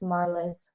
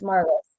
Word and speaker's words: Marlys: It's pronounced Marlys because Yes. everyone pronounces it wrong. It's Marlys, but my first name is with a Y.